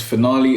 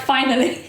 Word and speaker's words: finale: Yeah, that's how you Because you were pronounce like, finally. Did I say that? Yeah, you said finally I on don't believe, Snapchat. I don't believe that was the case. Finale. That's what you said.